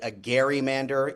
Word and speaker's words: gerrymander: Gerrymander, even though it's pronounced gerrymander today, but the origins of this